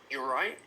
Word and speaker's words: all right: your friends, but also the way we pronounce it is informal. So we often drop the R at the beginning, and then we connect the you and all right together. So it becomes, you're right. Notice that I also don't pronounce the T.